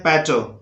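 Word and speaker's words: patois: उसके बाद है इसको बोलते हैं पैटो, पैटो।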